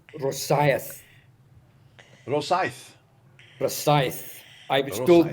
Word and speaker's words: Rosyth: Rosyth is pronounced Rosyth.